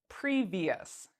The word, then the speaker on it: previous: It's not a C, it's not a T, and it's not an X. So what does that mean? We pronounce it like ious, ious. So let's say the word previous, previous.